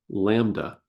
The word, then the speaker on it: lambda: This is called, this is a Greek letter, lambda, pronounced like the baby sheep, and then duh. So like duh, baby sheep, lambda.